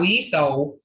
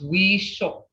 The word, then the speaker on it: weesho: It's not weeso or weeso, it's weesho, okay?